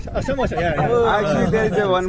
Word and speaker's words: samosa: shamosha. Samosa.